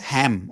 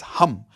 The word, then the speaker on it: Ham: It's not ham. Okay. It's hum like how you would say hu m.